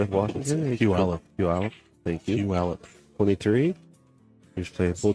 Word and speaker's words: Puyallup: Yeah, Working on pronouncing that right. From Palau. You gotta keep doing Playing with Washington. Puyallup. Thank you. Puyallup.